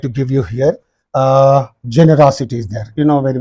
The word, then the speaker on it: generosity: used on this so you have to say generosity similarly curiosity is there q r o c